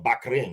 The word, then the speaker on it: Bahrain: i first arrived for bahrain or back rain if you want to pronounce it properly now that i discovered